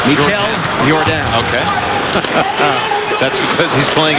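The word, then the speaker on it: Michal Jordan: That's spelt Michael Jordan, but pronounced Mikel Jordan.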